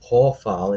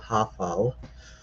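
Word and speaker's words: הָפְעַל: You know it's an o sound because of the name of the stem, hofal. It's not hafal.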